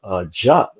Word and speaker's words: Diop: Because once we, and I was reading Sheikh Anta Diop, or Jop, however you want to pronounce it, because he, you know, it's French, or he uses the French language. So, but I use the English version, which is Diop.